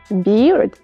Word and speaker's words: beard: вами вже спробували прочитати Bird - це пташка А beard - це борода Bird Be вимова схожа але різниця в одному звуці може змінити все Тож як сказати правильно